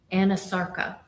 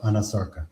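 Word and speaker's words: anasarca: examiner, did she have a condition known as Anasarka? If I'm not mispronouncing it. No, you're pronouncing correctly. She did have a condition called Anasarka.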